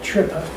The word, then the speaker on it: Trippe: It's spelled Trippa, but they always say trip apparently.